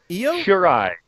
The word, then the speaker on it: Io Shirai: Io Shirai.